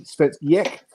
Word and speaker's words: Svensk Ek: It looks like it's Svensk Ek, but put a Y in front of it and a bit of inflection in the end. Svensk Ek, that's how you pronounce it, and that stands for Swedish oak.